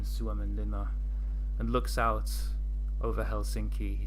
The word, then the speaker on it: Helsinki: authentic okay uh there the stress is always every single time on the first syllable so it's not Helsinki it's Helsinki all the time every time in Finnish in The